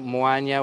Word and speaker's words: Moaña: so you can read a little bit about moanya where we are and about the festival here